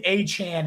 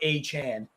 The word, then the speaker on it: Achane: have no idea yeah I think it's a Chan is what he decided to to go by uh a chain would